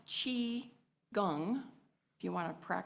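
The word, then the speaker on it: qigong: we just did some chiong exercises and it's pronounced Chi Gung if you want to prac practice that Chi Gung which means the cultivation of chi or energy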